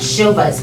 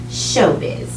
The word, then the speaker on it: Showbiz: I read that Showbuzz paper. Biz, it's biz, rhymes with Liz. Yeah, biz. Hey, I'm catching on to the lingo. Showbiz.